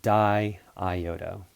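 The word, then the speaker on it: diiodo: - die iota and there are two consecutive eyes just think about it in terms of like syllables how you pronounce it if you don't have this the second eye you're you're gonna press like do dough or something like that or diode oh so it's being die ioad oh yeah alright so the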